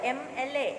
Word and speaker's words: MLA: So you think that M is a consonant and Y is using an, but it is pronounced as vowel, MLA.